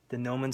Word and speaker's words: Gnomon: The Gnomon Workshop. It's spelled Gnomon.